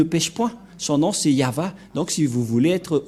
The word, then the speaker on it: Yahvah: de de yava et la prononciation de y h V he selon les hébreuxes c'est yava et personne ne peut